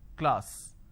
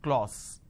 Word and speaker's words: class: k le a sir class this is how the pronunciation is but people make a mistake they say or sir instead of saying class they end up pronouncing this as clause okay now why does